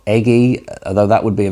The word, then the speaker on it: Ege: it she's Norwegian but her surname is pronounced EG g e so for me I guess the natural way of saying it would be eger or eggy although that would be